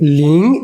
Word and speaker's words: 零: Let's call it ling in Chinese. Ling rhymes with ring.